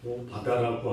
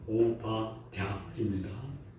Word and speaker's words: 오바댜: 근데 그 이름이 뭐냐면 오바댜라는 사람. 오바다라고 하면은 쉬울 텐데 오바댜입니다. 댜. 발음하기가 조금 불편합니다.